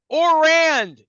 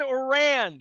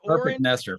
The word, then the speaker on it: Ourand: um and uh I I always pronounce his name wrong but he's orand John orand is that I get it right not or Neer perfect I've known you